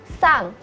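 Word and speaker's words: さん: 3, sang.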